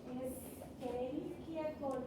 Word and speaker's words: Escherichia coli: Desde ahora ustedes todos que vean CH que parece Escherichia, latín antiguo, Escherichia coli. Esa es la forma correcta para pronunciar.